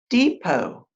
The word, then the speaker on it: depot: letters with another correspondent depot a railroad or bus station notice the tea is not pronounced deep Oh God thin